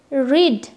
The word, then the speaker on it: read: The present tense form is pronounced read, rhyme with the word seed, while the past form is pronounced read, same as the color red.